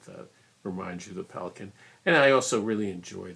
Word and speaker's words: Pelikan: If you enjoy this long conversation with myself about Pelikan, which is how you're supposed to pronounce it in the German pronunciation, please subscribe.